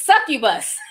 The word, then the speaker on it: succubus: sent five she says you can pronounce it it's succubus thank you so much